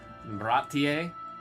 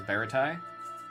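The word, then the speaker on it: Baratie: Bratier. I only know how to say it because of the live action. I definitely read that as Baratai.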